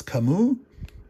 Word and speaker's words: Camus: you can see him, it's not Camus, it's Kamu.